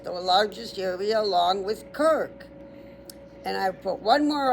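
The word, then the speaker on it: Krk: Um, and then Kirk, K R K, the co the largest population,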